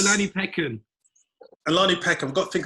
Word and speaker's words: Olanipekin: We've got Nadeem Perera, and I pronounced that. Perera is correct. Okay. And I got Olanipekin.